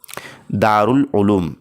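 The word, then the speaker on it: دار العلوم: तो फ्रेंड्स इसका जो सही तलफुस और प्रोनाउंसिएशन है वो है ऑप्शन नंबर दो दारउल उलूम इस तरीके से।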